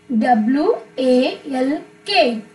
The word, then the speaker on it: walk: r near next is w a l k walk not to say this not to pronounce this l w a l k